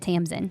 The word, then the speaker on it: Tamsin: Is it Tamsin? So I listened to the audiobook and she said Tamsin.